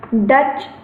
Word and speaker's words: Dutch: उत्तर Europe में जो भाषाएं जैसे डच, आपने नाम सुना होगा, डक नहीं है, बत्तख नहीं है, डच है, हम स्पेलिंग लिख दे रहे हैं, DUTCH, डच है।